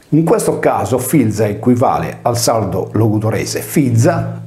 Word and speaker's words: filia: Il sostantivo figlia si deve pertanto leggere filza. In questo caso filza equivale al sardo logudorese